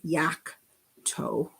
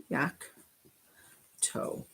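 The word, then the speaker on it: yocto: zap toe zap toe and this one is yak toe yak toe okay so we don't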